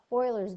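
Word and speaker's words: Euler: this is something called Oilers diagrams now Oilers diagrams looks like it's spelled uler but it's Oiler kind of use circles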